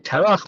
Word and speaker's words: Terach: Srug, Nachor, Tarach. We usually call him Terach, but of course when a gets changed, the translation, the pronunciation, when it's the end of a verse or on the etnachta.